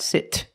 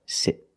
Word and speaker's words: sit: hot dog sit sit not sit but sit you sit there with